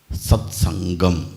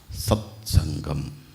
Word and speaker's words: സത്സംഗം: ചിലർ സത്സംഘം എന്ന് പറയുന്നവരുണ്ട്. അങ്ങനെ പറയുന്നവരുണ്ടോ? ഒരു കടുപ്പം കൂട്ടാൻ വേണ്ടി. ശരിയായി ഉച്ചരിക്കേണ്ടത് സത്സംഗം എന്നാണ്. ഗംഗയുടെ ഗ, സത്സംഗം.